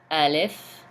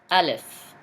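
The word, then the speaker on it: ألف: Alif. Please repeat after me. Alif. And it pronounced as A in English.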